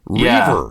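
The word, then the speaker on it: Reivers: Oh, a a reaver. Reaver.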